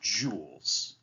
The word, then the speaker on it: joule: in a unit called joules this jou L II is pronounced Joule Joule that is the scientific